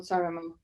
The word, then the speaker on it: Saaremaa: am from the biggest island, which is called Saaremaa. How do you spell it?